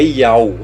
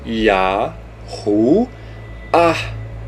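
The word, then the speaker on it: Yahuah: Lembre-se sempre, porque esse Rei tem som de H, não é Yau, é Yahu. E o Yud, He, Vav, He, que aí você vai ter o que? Yahu, Ah. Esta é a pronúncia do tetragrama.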